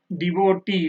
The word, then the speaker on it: devotee: Devotee. Last syllable means devotee. How you pronounce this? T. You understand? So this is T, devotee, that is E sound.